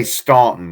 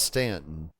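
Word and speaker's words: Staunton: I say Stuntton, not Stanton. But it's Stanton. It's Stanton. You don't pronounce it.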